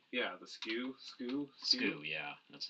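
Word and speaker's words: SKU: the Dewey Decimal System yeah right yeah the skew SK SK yeah that's how it's pronounced actually that would be the way to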